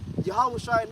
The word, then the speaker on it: Yahushua: Yahushua knows. You gotta say it like that.